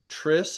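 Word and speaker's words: triskaidekaphobia: ways of pronounc this this more common way tris is three kai is the Greek word for end deck is 10 three and 10 phobia number 13. Fear. Phobia is fear.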